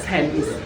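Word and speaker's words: Thames: I have a local tell me how you pronounce this River it's the river Tims the river Tims Tims this is is there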